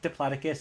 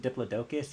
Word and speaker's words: Diplodocus: I mean, Giganotosaurus, Giganotosaurus, for me, it could be pronounced both ways. It's like Diplodocus and Diplodocus, you know?